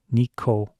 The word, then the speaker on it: Nikon: everyone will pronounce it if it were written in Katakana in Japanese it would be Nico so three syllables anyways